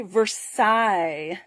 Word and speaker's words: Versailles: say this word so i looked it up tonight on google and i had it pronounce it for me out loud so i made sure i would say it correctly so it's called very versaille so it is after the palace in france all right so very